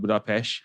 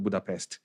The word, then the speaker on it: Budapest: So that's something similar to like Budapest. Like the locals will call it Budapest. And if you are a foreigner like Englishman, you probably probably call it Budapest.